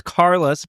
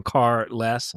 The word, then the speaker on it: Carlos: My name's Carlos. Pronounce if you like don't have a car. I am carless.